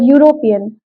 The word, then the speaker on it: European: it's a consonant right how am I pronouncing the word European the first letter that is coming is yeah European European so that's why always remember